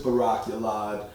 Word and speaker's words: Barak Yalad: you have a very long name can you spell it slowly yes yes my name is barakulad b-a-r-a-k space y-a-l-a-d sensei okay and that is